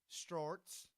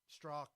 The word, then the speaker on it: Strzok: Clinton probe guy, Peter Storks, whatever. I think it's Stork. There's a Z in it. And I his think the Z is silent. Okay, and his girlfriend Lisa Page. Strzok, yeah.